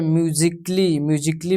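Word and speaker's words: musically: यहाँ पे म्यूजिकली में भी ए आपका साइलेंट रहेगा।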